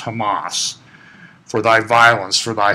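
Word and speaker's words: חמס: that war there is a Hebrew word state pronounced Hamas for thy violence for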